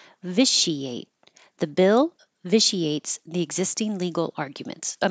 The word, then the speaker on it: vitiates: eponymous viate the I the ti here is a sh viate the bill vitiates the existing legal arguments